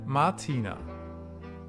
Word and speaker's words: Martina: Ich heiße Martina. M A R T I N A. And in this case you can hear that the R is almost not pronounced at all.